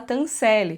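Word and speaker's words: Tanselle: da peça de teatro da Tancell ou Tencel, que eu acho que é como ela pronuncia na série, mas eu, gente, eu acostumei de falar no livro, então é Tancell para mim, desculpa.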